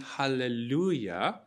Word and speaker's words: hallelujah: word at the beginning hallelujah the natural uh accent is on lu hallelujah you don't go hallelujah but hallelujah do you see how